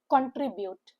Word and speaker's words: contribute: The word contribute like the word consistent a three-cllable word with the stress on the middle syllable trim. Contribute. Contribute. C N is ku N. T R I is the same and it is UT which is YT.